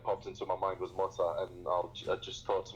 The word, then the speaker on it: Mota: one and only MC Mota. Am I saying that right? Yes, MC Mota. That's the way you pronounce it.